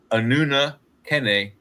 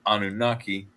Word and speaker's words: Anunnaki: of what is technically the way they pronounce their name, their their species or their race or whatever they you want to call it is Anuna Kenn and we've bastardized it into Anunnaki, but this is allegedly